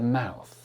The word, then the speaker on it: mouth: So, make sure you do not say mouse like Mickey Mouse. It's not m o u s e. It's m o u t h. And the th is mouth.